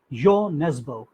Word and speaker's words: Jo Nesbø: A Norwegian author, Jo Nesbø, J-O pronounced Jo, Nesbø, N-E-S-B-O, wrote a book in Norwegian which was later translated into English, and this was called Macbeth.